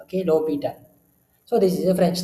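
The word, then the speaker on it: L'Hôpital: So, we can pronounce this as L'Hopital, okay? L'Hopital. So, basically, there is no sound for this H, okay? So, there is no sound for this H. So, you can pronounce it as L'Hopital, okay? L'Hopital.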